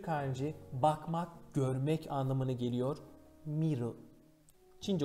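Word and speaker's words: 見る: Miru. Çince okunuşu ken.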